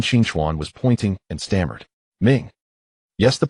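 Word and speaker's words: 明: When the sun and the moon come together, they shine, so this character is pronounced Ming, meaning bright.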